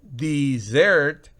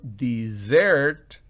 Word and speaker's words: dessert: Pero si yo digo desert, oigan bien, desert, desert es desierto, pero dessert, miren que no es de, sino dessert es postre.